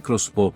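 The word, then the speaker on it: X-Bow: El expo, que se pronuncia crossbob porque KTM se cree inteligente, no es realmente un coche.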